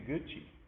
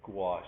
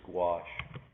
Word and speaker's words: gouache: She said, I'm using Gucci. And she said, oh, I've never heard of that. She said, yes, you should try it. Well, she meant gouache.